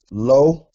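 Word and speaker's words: לוֹ: This next word is lo, not to be confused with this lo. With this lo, which means no. But when you see it with the lamed, the wow, with the cholam, lo, this means to or for him.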